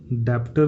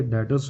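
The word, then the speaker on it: debtors: बेटा यहाँ पे जो बी है ना, ये साइलेंट है, डेप्टर नहीं होता है, ये डेटर्स होता है, ठीक है। तो ये ध्यान रखना जब आप प्रोनाउंशिएट करो इसको, तो इट्स अ डेटर्स नॉट अ डेबिटर।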